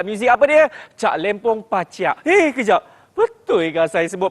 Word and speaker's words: Paciak: sebab dia punya ejaan P-A-C-I-A-K. Jadi sebutan yang sebetulnya adalah Cak Lempong Paciak.